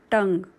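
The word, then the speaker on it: tongue: S lips म्हणजे ओठ टंग टी ओ एन जी यई हे स्पेलिंग नीट लक्षात ठेवायचं आहे टंग कारण उच्चार आहे तस स्पेलिंग नाहीये टी ओ एन जी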